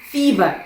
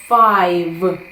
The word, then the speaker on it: five: Фіве, так би мовити, да? Вимовляється це як фай. Five.